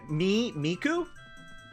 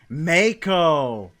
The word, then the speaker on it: Mako: So is it Miku? Like the Hatsune variety? Mako! Mako! Like the shark.